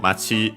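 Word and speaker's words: 町: Yeah, we've seen the term of for town, Machi, accented on the last syllable on its own.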